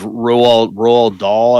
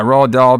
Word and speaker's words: Roald Dahl: I think it's Roald Dahl, I think is how you say his name, but I could be wrong. Yeah, Roald Dahl published a book called